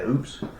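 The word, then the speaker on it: Oupes: model numbers we tested the Opie system is that how you say it o yeah oops oops Yeah oops o u p s Mega 2 Mega 2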